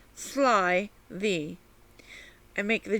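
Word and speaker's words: slithy: on that point also the pronunciation of slivy as if it were two words sly thee i make the g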